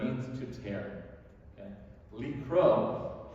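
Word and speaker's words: לקרוא: Likro, pronounced the same exact way, with a different silent letter at the end.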